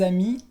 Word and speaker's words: amis: Así es, para empezar la S la vas a encontrar en las palabras en el plural, por ejemplo, un an, que es un año, deux ans, que es 2 años, la S no se pronuncia, o un ami singular, des amis, plural, des amis, la S al final es muda.